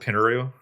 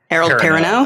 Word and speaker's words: Perrineau: Harold Pinneru. Nope, that's not how you say it. Harold Perrineau? That's it.